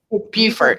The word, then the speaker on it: Beaufort: who's a local in Beaufort is that how you say it well it's beautiful Beaufort excuse me Beaufort South